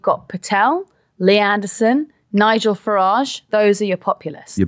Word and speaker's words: Farage: Now, what's Nigel Farage doing? And I love the soft G that I've added to that. Yeah. Farage.